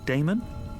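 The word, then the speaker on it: Daemon: How do you pronounce that? Damon? If you prefer.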